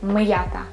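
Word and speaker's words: м'ята: i spell it but i use apostrophe i don't allow my ya sound influence on my ma sound so i will say just like miyata mayaka okay what we are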